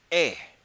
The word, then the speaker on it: et: So how do you say and in French? Et, and it's spelled E-T.